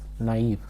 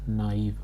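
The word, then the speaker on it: naïve: And both the vowels are pronounced separately.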